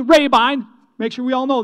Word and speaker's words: Rabine: time say pay me the weight i'll say rabine the way it's pronounced r-a-b-i-n-e rabine make sure we all know that okay i'll